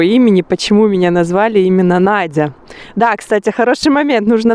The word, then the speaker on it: Надя: И произносится Надя, как и в русском языке.